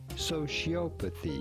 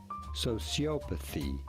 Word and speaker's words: sociopathy: like in american english it is pronounced with an s sound where the c is yes sociopathy he said in english